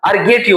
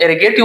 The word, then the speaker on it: ergative: इम ट्रांजिटिव कहते हैं या अरगेटिव वर्ब कहते हैं। इसको बाज लोग एगेटिव वर्ब प्रोनाउंस करते हैं।